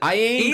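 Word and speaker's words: Iain: how to say it is it ien I think it's Ian Ian i a i in is a weird way to say Ian but okay he's been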